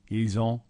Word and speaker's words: ils ont: Notice how you do pronounce the S in this situation where you haven't in other examples because of the next word beginning with a vowel. Ils ont, elles ont.